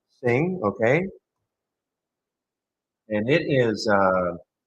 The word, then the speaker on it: CING: and I don't mean I don't mean sing as in sing I mean c i n g pronouncing it sing okay and it is